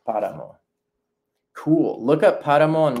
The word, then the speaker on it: páramo: Also, to point out, there is an accent on páramo over the A. Accents in Spanish just show the emphasis. So in this case, páramo, it's the emphasis on the first syllable, páramo.